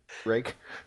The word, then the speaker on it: Rak: How do you say rack out of curiosity? Rake. That's That right. one's already been established. Really? R-A-K.